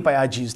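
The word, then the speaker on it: Piaget: तो पायाजेट लिखते हैं लेकिन प्रोनाउंस करते हैं पायाजी।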